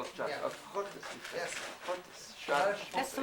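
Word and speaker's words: schottis: How do you spell it? Hotties, S-C-H. Oh, Scottish. We call it Scottish. Yeah. Hottis.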